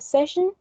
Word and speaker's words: session: sen and finally we have session that has two syllables and the most prominent syllable is also the first one sensible sen but i